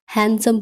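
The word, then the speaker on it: handsome: या कामचोर next हैंडसम नॉट हैंडसम D silent हैंडसम पढ़ेंगे और हैंडसम का हिंदी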